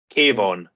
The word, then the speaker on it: Kayvon: Kayvon.